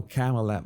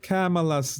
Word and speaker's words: Kamala: Because in fact, some of you told me back then when I had this trouble saying her name, so it's said like Pamela, but the problem is that Pamela would say Pamela in Spanish.